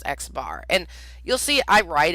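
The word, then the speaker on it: x̄: If I say x bar, see that x with a line above it? That's pronounced x bar.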